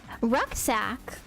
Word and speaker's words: Rucksack: Rucksack. If you've never heard it, you probably think I sound stupid right now because in German it's like what? Look. Look. But in English we're like rucksack.